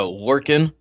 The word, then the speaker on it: Lorcan: It is uh Lorcan.